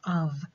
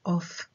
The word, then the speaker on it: of: v as in over, the letter f as in of, so this is pronounced of, not off.